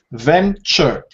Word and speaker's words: venture: you very very much Venture two syllables and the stress Falls at the beginning Venture yeah Venture D